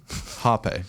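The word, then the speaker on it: rapé: a purging method so it's spelled r-a-p-e okay Harpe that's what the pronunciation is Harper but it's spelled rape like and uh and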